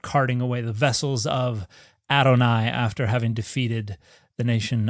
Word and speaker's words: Adonai: my Lord, a special form of it that's pronounced Adonai.